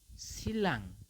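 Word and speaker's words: 신라: yang berubah adalah ninya seperti ni ketemu real maka ni berubah menjadi l seperti itu Jadi ini dibacanya adalah silang seperti itu teman-teman ya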